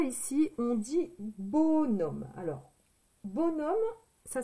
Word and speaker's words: bonhomme: Alors, bonhomme, ça s'écrit comme ceci. Donc, ça s'écrit bon. Ça, c'est bon. B-O-N. D'accord? Le H, on ne l'entend pas.